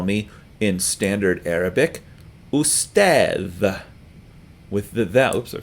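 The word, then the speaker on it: أستاذ: they do that will they say ustadh. Most people will say ustaz instead because it's just a tiny bit easier to say that.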